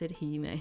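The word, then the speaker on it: 姫: Yeah, it is pronounced heime. Yeah, like how the e in cafe is pronounced and the ca part in cafe is pronounced ka.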